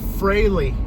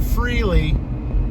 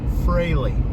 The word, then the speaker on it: Frehley: Frehley, everybody. That's how you pronounce it. Not Freely, Frehley.